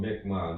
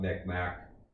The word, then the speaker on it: McMahon: They're called McMahon, not McMack.